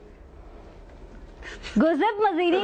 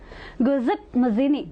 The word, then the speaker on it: Giuseppe Mazzini: Giuseppe Mazzini wanted unification of which country, Abhishek?